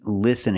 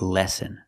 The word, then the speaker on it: listen: lessen again he means listen again the word is pronounced listen not lessen we need a short is sound like this is li listen so it should be